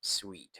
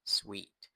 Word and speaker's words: suite: นั่น เอง นะ ครับ Sweet ไม่ ใช่ สูต นะ Sweet คำ ศัพท์ ที่ เอา